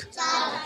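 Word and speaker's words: chalk: एल के के चालक चाक चालक माने होता है चौक चौक याय एल साइलेंट होता है हम इसको चौक भी पढ़ सकते हैं क्या पढ़ सकते हैं चौक डी यू य एस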